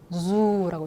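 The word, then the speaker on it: dù: 자, 그런데 요거 이따가 우리 다음 코너에서 배우겠지만, 요거는 이제 북쪽에서는 지읒 발음입니다. 북쪽에서는 뭐다? 지읒 발음이에요. 그리고 우리말의 지읒보다 좀 가볍습니다. 이렇게 읽어요. zu.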